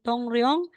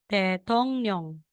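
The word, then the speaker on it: 통령: po te tong rong So kung nakikita natin dito na sa second syllable may psim na ng tapos followed siya ni real sa third syllable so Instead na sasabihin moong tong rong magiging Tong niong Tong niong Yan po siya Okay next po na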